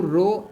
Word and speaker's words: rho: इसको हम रो बोल देते हैं, ऐसे RHO, ऐसे प्रोनाउंसिएशन ऐसे आती है, रो को बोलते हैं बेटा रेजिस्टिविटी।